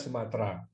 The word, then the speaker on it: Sumatera: Untuk menyesuaikan dengan bahasa Melayu, bahasa Indonesia adalah bahasa Melayu, tidak ada huruf T dan R yang nyambung ya, harus diisi E di tengahnya, sehingga menulisnya adalah Sumatera, walaupun bacanya Sumatera.